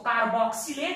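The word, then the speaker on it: carboxylate: इसी को कहते हैं कार्बोजाइलेट आयन। आप इसको कार्बोक्सिलेट आयन भी बोल सकते हो। हम X का उच्चारण जब करते हैं तो मैं कार्बोजाइलेट बोलता हूं।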